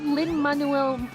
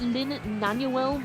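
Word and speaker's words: Lin-Manuel: butchered it and ready instead of Lynn Manuel Miranda who read it as Lynn nanuel Miranda and I'm like wait that's not right or even a person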